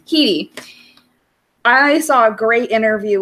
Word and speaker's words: Headey: How do you say her last name? Keedy.